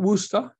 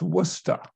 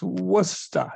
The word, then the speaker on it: Worcester: first of all most importantly is how to pronounce the name of the city it's not worcester it's not worcester it's worcester it's worcester so if you're going to come here you